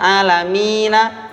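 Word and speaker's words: العالمين: Nah, ya, ini kan harusnya alamina. Alamina ini mad tabi'i. Akan tapi dia bertemu dengan waqaf. Maka dibaca panjang. Alhamdulillahi rabbil alamin. Gitu. Bacanya 2, 4 ataupun 6.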